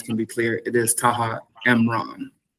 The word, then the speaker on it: Taha Imran: and the audience can be clear, it is Taha Mron.